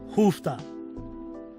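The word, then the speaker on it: Uff da: It's spelled Huufth, but it sounds like hoofta.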